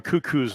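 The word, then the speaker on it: Kukuk: talked much about Andrew cuckoo's name you spell it k-u-k-u-k looks like it is cuckoo second down and seven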